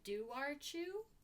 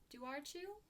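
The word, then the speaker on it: dobhar-chú: hound hybrid called the do archu do archu i am so sorry formal apology ireland ireland there's a bee in there but the b is not in the pronunciation but like is it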